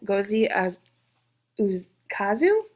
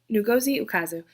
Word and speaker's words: Ngozi Ukazu: The first 5-star is actually a graphic novel, check please, by Gozi Ukazu. I looked up how to say it. Ngozi Ukazu.